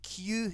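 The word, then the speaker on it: 九: Because Q and Q in Japanese, they are the same thing. Because Q is how you say 9 in Japanese.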